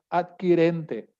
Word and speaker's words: adquirente: Adquirente. ¿Es adquirente o adquiriente? En el Código Adquirente, Civil, sí, adquirente, ¿verdad? Ok, sí. Así escriben adquirente.